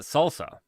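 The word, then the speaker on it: SLSA: So this is they pronounce it salsa. I'm pronouncing it slasa. If you wanted it salsa, you put an A in there. This is slasa.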